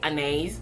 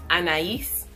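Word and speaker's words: Anaïs: is but by casual apparently that's how you pronounce it because british people say anes but apparently it's anais okay get with the french um so the notes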